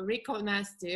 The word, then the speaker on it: Rico Nasty: oh by the way how you pronounce it it's rico rico nasty rico in spanish is rich rico nasty well i